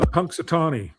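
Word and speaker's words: Punxsutawney: And we found ourselves and how do you pronounce the town from the ground up day? Uh Punksatonyi.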